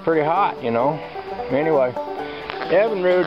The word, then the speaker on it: Evinrude: I think that's pretty hot you know anyway Evan rude Evan rude Evan rude it's Evan r motor I'm going to say